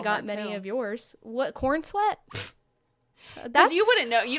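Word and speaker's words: Corenswet: decided to stick with Corn Sweat. Well, it's spelled weirdly. Like, it's not like you look at it and it's like Corn Sweat. It looks like Corin Sweat. It's SWET.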